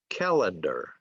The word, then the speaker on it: calendar: The accent is on the first syllable. Calendar, calendar.